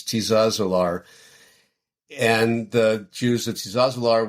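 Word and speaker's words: Tiszaeszlár: The name of the town, I'm not pronouncing it exactly right, but it's Tizazalar.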